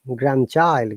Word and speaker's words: grandchild: So any word that has got grand and another word, we do not pronounce letter D. So grandmother, grandfather, grandchild, grandson.